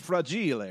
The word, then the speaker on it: fragile: is just it's spelled the same but it's pronounced fraud GLA right yeah yeah it is yeah the dad